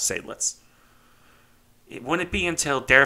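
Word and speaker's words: Seydlitz: follow-on designs multica and sadlets or sidelits i've heard it pronounced either way but i tend to default to sablets it wouldn't be until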